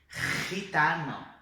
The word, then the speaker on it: gitano: Então tanto la Re como la Rota é esse som aqui de garganta arranhando a garganta, tá? Então vamos lá, olha só, observa esse som. Gente, gitano, jamón, jazmín, ok?